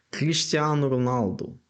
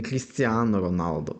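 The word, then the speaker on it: Cristiano Ronaldo: футболіст нам всім португалець Кріштіану Роналду не Кріштіану Роналду не Крістіано Роналду а Кріштіану Роналду тобто в кінці у як в імені так і фамілії Кріштіану Роналду щоб прізвище що ім'я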